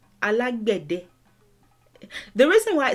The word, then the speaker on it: Alágbẹ̀dẹ: So in Cuba they say alawede. Sometimes they say they sometimes write it as ALAGUEDE, sometimes ALAWEDE, but this is the correct pronunciation and current spelling. Alágbẹ̀dẹ.